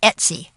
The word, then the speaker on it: etc: want to go to the folder slash Etc which is pronounced Etsy and then click go